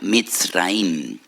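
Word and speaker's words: מצרים: y recuerdan la aflicción, la amargura de la esclavitud, porque la palabra Egipto en hebreo se pronuncia Mitzraim.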